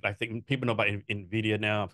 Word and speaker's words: Nvidia: know about Nvidia now probably said that wrong wasn't coming after like like doing good things no you actually said it right A lot of people say Nidia which really grindes my gar go ahead so what